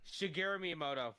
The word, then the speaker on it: Shigeru Miyamoto: creator Singh grew syngress how you say it shigeru miyamoto yeah there you go she Gary me I'm